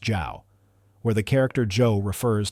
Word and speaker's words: Zhou: After his fall, Dixon was given the posthumous title of King Zhou, pronounced Zhao, where the character Zhou